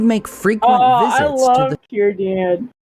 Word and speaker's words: Círdan: Círdan. I thought it was Círdan, but I guess it is Círdan. Because C's are pronounced with Son a K.